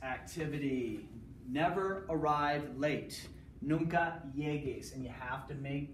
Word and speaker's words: llegues: L-L-E-G, you have to add this, you have to make that gay sound, yeges, the hard G, you have to add the U, no yeges.